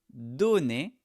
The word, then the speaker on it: donnez: Donnez donnez vous donnez des cadeaux à Noël. Ici quand c'est avec vous, la prononciation c'est comme à l'infinitif.